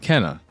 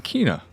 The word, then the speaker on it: Kena: was getting at is I wasn't sure how to pronounce the title of the game and figured I would learn it by playing the game and at the very start they said Kenna then more recently cuz I'm about 6 hours in they started saying Kina I like the sound of Kenna more so I'm going to stick with that but Kina Kenna we can all agree that